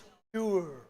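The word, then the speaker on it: pure: हाँ, पेवर नहीं बोलते, इंग्लिश क्या बोलते हैं? इट्स प्योर, प्योर। और इसको प्योर भी कह सकते हैं, प्योर, बट सही जो प्रोनाउंसिएशन है इंग्लिश का पहला, वो होता है प्योर।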